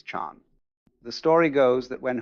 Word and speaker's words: Chan: Just as Zen is the Japanese pronunciation of Chinese chan.